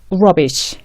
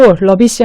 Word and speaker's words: rubbish: 이 R 전에 R을 발음하기 전에 우 발음을 내고 있는 거예요. 이 발음을 내고 있다가 그 다음에 발음을 시작하면 됩니다. 이런 식으로 굳이 한국식으로 표기를 하자면 우를 하고 있다가 rubbish 이런 식으로 rubbish 이렇게 되면 다 알아들어요. 근데 우를 안 하고 rubbish 하면 이 사람들이 다시 물어봐요.